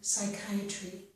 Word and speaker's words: psychiatry: In these two words, we do not pronounce the P sound, so we pronounce these as if they start with the S or S sound, okay? Psychology and psychiatry.